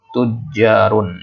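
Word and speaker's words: تُجَّارٌ: Kemudian ini tujarun, ini bacanya tujarun ya. Nah, di sini harokatnya dhammah. Nah, kemudian di sini ada tasydid. Kemudian fathah. Tujarun.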